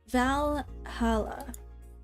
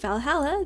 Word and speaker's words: Valhalla: a new Miki Blog valala the name sounds silly and a bit hard to pronounce good thing it's actually called Valhalla the funny number and letters are just a code anyways I visited this